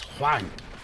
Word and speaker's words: Huang: huang as well excellent i like to pronounce it with that kind of weird twang to it because there's an h in there right it's not just the word wang it's hwang indeed squidge we did